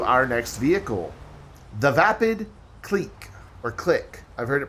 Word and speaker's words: Clique: Some people call it the cliche. No, I don't believe that's how you pronounce that word. I think you're wrong. Clique I can see. Clique I can see. Cliche is spelled a completely different way.